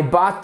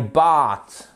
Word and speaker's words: bought: I bought 2 tickets for the concert. Alors, I bought, ok? Bought, le O-U-G-H-T se prononce comme le A-U-G-H-T.